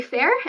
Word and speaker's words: faer: And so the last two, you pronounce the first one, fey, fair, and so it's FAE/FAER.